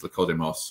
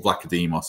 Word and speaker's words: Vlachodimos: And I think it feels like the same with Vlachodimos or Vlachodimos, I hear you saying. I've been pronouncing it wrong.